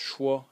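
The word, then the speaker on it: 说: into the next sub-series phonetic series when it's pronounced schwa i guess a lot of you recognize this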